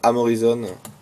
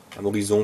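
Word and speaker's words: Amorison: C'est l'équipe Crélan de Amorizon. Amorizon plutôt, Frédéric Amorizon. Je finis par tout prononcer à l'anglaise.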